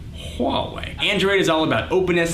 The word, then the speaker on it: Huawei: by motorola samsung LG hallway that's how you pronounce that huawei android is all about